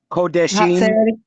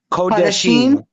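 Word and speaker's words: קדשים: the term, and for anybody, please correct me, Kadeshem, I believe that's how you pronounce it. It gets mistranslated, right? As male. Kodeshim. Kodeshim. Yeah, Kodeshim.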